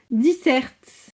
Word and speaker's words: disert: ça dire éloquent et c'est diser le c'est le T ne sent pas se prononcer d'accord j'ai marqué ils